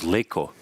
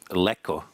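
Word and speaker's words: Lékó: Also, it's Leko, not Leko, because there he has a little accent on the E, so it's a different letter than the regular E.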